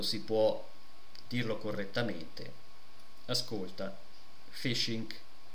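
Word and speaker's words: phishing: E qui potete leggere fasishing o fishing? Ehm, ecco, fishing. Credo che si pronunci fishing, forse ho detto sbagliato.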